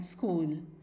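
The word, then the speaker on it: school: कुछ और वर्ड्स हम देखते हैं जो कि CH से शुरू होते हैं और उनको हम प्रोनाउंस करते हैं एज क, एज in coarse, coy, chaos and स्कूल.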